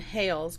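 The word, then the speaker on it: Hailes: little girl there was a restaurant there named hales but it's spelled h-a-i-l-e-s so i thought that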